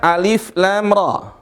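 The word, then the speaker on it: الر: Berikutnya alif lam ra. Sama persis cara bacanya nih. Tinggal turunin. Tinggal ditambah dengan mim ra. Ini dibaca 2 harokat saja.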